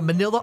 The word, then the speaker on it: manila: I was holding a manila envelope, and manila rhymes with vanilla for some reason, and I haven't been able to stomach a single bite since.